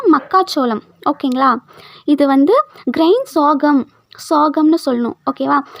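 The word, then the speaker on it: sorghum: இது வந்து கிரைன் சோகம்னு சொல்லணும். ஓகேவா. ஒவ்வொருத்தங்க சொர்க்கம்னு சொல்லுவாங்க, ஒவ்வொருத்தங்க சொர்ஜம் அப்படின்னு சொல்லுவாங்க. ஆனால் அது எப்படி ப்ரொனவுன்ஸ் பண்ணணும் அப்படின்னா சோகம் அப்படின்ட்டு தான் ப்ரொனவுன்ஸ் பண்ணணும்.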